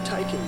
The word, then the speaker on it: Taycan: No, Taycan means lively young horse in Turkish.